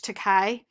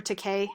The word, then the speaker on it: Takei: us enemy is by george takai um or takei i think actually is how you pronounce it but it's a